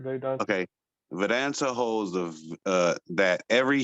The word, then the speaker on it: Vedanta: nature between the subject and the object uh veranta holds that did i say it right yeah that's right they don't okay vedanta holds the uh that every human being is